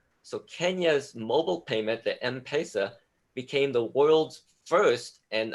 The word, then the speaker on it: M-Pesa: And the reason why Kenya, they have something called M-Pesa. I'm not sure if I'm pronouncing it right.